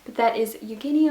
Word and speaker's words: Eugene: pronunciation, but that is Eugenie Onegin by Alexander Pushkin, or Eugene as we would Americanize it.